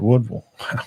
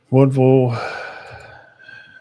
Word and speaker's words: Woodville: Woodville. Woo. That's the way it's pronounced. I'm just telling you what I've been told from people over that way. Wolville and Wolville and Appalachian play next week.